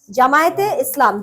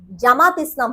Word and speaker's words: জামায়াতে ইসলামী: কিন্তু আপনি কখনো জামায়াতকে অন স্ক্রিন অন ক্যামেরা আপনি জামাতকে জামাত বলতে পারবেন না জামায়াতকে। জামায়াতে ইসলামী।